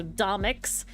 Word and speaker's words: Domics: by doic okay so it's Comics but it's spelled with a d instead of a c for the first one so domics if you literally type in